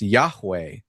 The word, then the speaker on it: Yahweh: It's four letters spelled Yudhe and it's pronounced Yahweh and it's used by characters in the Bible.